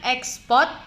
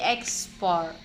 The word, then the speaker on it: ekspor: transmigrasi bukan ekspor tapi export nah eh bukan exports tab tetapi ekspor lalu untuk yang kedua tata bahasa atau kata